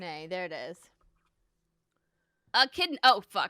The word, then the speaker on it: echidna: h i d n a there it is a kidney oh a kidney sorry friends a kidneys how you pronounce it he looks he looks like a